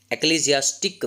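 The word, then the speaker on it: Ecclesiastes: Chapter का name है एक्लीसियास्टिस। एक्लेसियास्टिक भी कहा जा सकता है, लेकिन it will be more authentic if यू are going to pronounce like एक्लेसियास्टिस। ये उस चैप्टर में से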